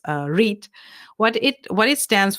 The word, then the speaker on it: REIT: it says are EIT it's pronounced read what it what it